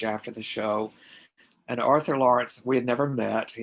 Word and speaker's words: Laurents: Do you know the name Arthur Lawrence? I know the name is ringing a bell. Well, the last name is spelled Laurents.